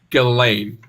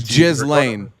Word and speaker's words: Ghislaine: It's pronounced Ghislaine. I just want. It's Ghislaine.